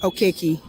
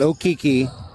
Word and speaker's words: Okeke: Okeke. Okeke. Mm-hmm. Not Okeke, not Okiki.